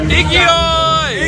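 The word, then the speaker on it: 勢い: Ikioi!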